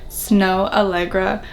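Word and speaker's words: Snoh Aalegra: because i actually didn't really know how to pronounce her name snow allegra i've been like really liking her music right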